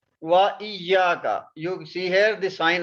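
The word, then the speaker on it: إياك: This we will pronounce. Wa iyyaka.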